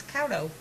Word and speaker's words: Couto: Well, it's C-O-U, it's O-U-T, it's Couto.